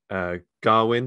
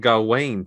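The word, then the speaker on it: Gawain: I've realized I've been pronouncing the guy's name is the knight is Garwin. I've been pronouncing it Garwain for years.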